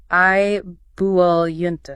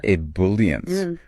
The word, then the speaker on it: ebullient: That's pronounced ebullient. Ebullient.